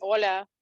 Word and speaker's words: Olha: Olha, or is it Olya? Is that how you pronounce it? Yeah, short version, Ola.